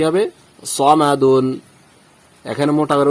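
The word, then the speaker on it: صَمَدٌ: দাল দুই পেশ দুন সমাদুন এখানে একটা বিষয় খেয়াল করুন সদ জবর সা বলি নাই সদ জবর স বলেছি তারপর মিম জবর ম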